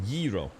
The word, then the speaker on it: gyro: Oh, so Gyro was actually pronounced Gyro. With a roll on the R.